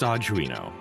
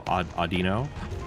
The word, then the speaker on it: Audino: You're pronouncing the Pokemon's name wrong. The last half is pronounced Oh, Audino.